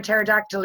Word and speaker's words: pterodactyl: Why can't you hear a pterodactyl in the loo? Because the P is silent.